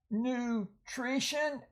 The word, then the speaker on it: nutrition: Nutrition, and notice the U there is long at the end of the syllable.